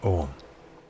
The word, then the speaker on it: ogham: Look for the link under Education that says ogham. Ogham, by the way, is spelled O-G-H-A-M. The G-H is silent.